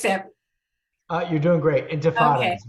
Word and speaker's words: Intifada: I never could pronounce that. You're doing great. Intifada Okay.